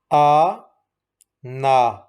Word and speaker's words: آنا: آ، نون زبر نا، آ نا، آنا آنا آنا۔ Always we will read this word ana. Alif is silent.